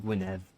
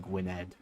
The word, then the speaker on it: Gwynedd: the men of guinev still feels wrong saying Gwyneth but pretty sure that is more correct pronunciation than Gwynedd what a nice guy